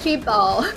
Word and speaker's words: K-Babe: Yeah, fun fact, we figured out that K-Babe is pronounced K-Babe, and I think in Chinese the fans call it K-Bao. So like Bao is kind of like, you know, baby or babe. Yeah, that's how they translated it.